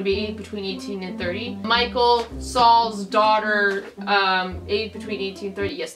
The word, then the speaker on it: Michal: David who's gonna be between 18 and 30 Michal Saul's daughter ate between 1830s and that's girl and the S is pronounced to Michael she actually was not the first one that's